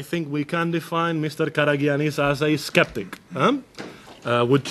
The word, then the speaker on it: Karagiannis: all my left there is yannis karagiannis yes karagiannis must admit I had to practice last night and I had to ask him exactly how to pronounce it well mr.